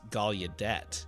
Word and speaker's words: Gallaudet: It's named after this minister, but whenever I've heard the university pronounced, it's always Gallaudet. And I think it's just an anglo butchering.